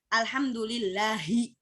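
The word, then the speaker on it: الحمد لله: itu artinya Allah ya Nah langsung jalannya kan Alhamdulillahi Nah itu hanya besar atau kecil pecah betul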